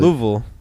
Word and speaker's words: Louisville: You're supposed to Louisville. like say it in 2 syllables, like Louisville.